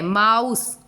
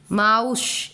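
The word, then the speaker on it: mouse: माउस, माउश, एश, ई हो रहा है क्या, माउशी, ऐसा नहीं हो रहा है।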